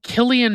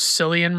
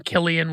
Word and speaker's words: Cillian: And last but not least, we have Cillian Murphy, who I thought his name was pronounced Silian Murphy for the longest time until he was in Oppenheimer or something.